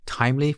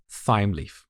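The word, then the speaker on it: Thymeleaf: By the way, it's time leaf. It's not th leaf. I've seen some people call it thy leaf. That's not the right pronunciation.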